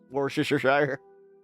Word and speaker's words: Worcestershire: Worcestershire. Worcestershire.